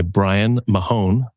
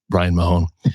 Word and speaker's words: Brian Mahon: I'm joined in the studio by Brian Mahon.